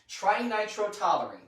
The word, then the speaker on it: trinitrotoluene: So, if nothing else, you now have a word that finally rhymes with Halloween, trinitrotoluene.